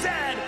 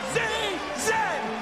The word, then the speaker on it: Z: The toque is a hat, the Chesterfield is a coach, and it is pronounced Zed, not Z-Z.